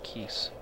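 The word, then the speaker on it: Keese: are ice keys where's the pronounced keys k-e-e-s-e i say keys it's always a good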